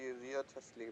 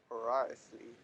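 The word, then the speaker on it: Wriothesley: I thought it would be Riotesley, but nope, Writhsley.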